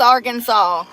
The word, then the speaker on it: Arkansas: Oh, it is pronounced Arkansas. Why is it spelled like that? That is not how you spell Arkansas.